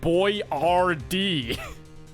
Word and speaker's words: Boyardee: phonetics because people didn't know how to fucking pronounce it. So now he's Chef Boyardee.